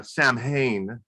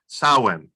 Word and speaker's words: Samhain: me to realize that that correct pronunciation is sauwen and i've been pronouncing that all day long trying to get that right but samhain um sawhan is sort of the